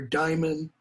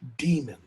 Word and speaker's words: daemon: I think the dark power is the Greek notion, the Greek idea of the daemon, or daimon, or as it's pronounced in modern English, demon.